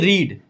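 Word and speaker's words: read: देखिए लिख देता हूं रीड इसको रेड पढ़ा जाता है स्पेलिंग सेम होती है रीड रेड रेड ठीक है इसको रीड पढ़ते हैं और इसको क्या पढ़ते हैं रेड पढ़ते हैं स्पेलिंग सेम है बस कहने का अंतर है ठीक है तो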